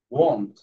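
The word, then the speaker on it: won't: আচ্ছা ইয়া লাভিন এই শব্দটা আমরা ওয়ান্ট বলি বাট এটার উচ্চারণটা ওয়ান্ট না ওন্ট ওন্ট এখানে দেখো এইযে দেখ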